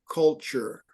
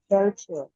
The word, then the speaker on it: culture: Pageant culture. Sure. Pageant culture. Pageant culture. Pretty good. It's that sure is the tough part there.